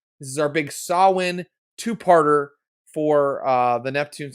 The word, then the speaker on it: Samhain: is our big sawwin i've been told it's pronounced saul win not samhain this is our big sawin two-parter for uh the